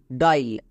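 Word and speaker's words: dial: আয়ের long sound I, যেমন ডি আই এ এল, ডাইল। এখানে আই এ আছে তার মানে এটাকে সাইলেন্ট করে দেব, আয়ের জন্য লং সাউন্ড আই উচ্চারণ করব।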